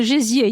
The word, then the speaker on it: gésier: And then I was thinking about the menu, and I'm not sure I can pronounce this right, but they had a salade gésier. Oh, the gésier, yes.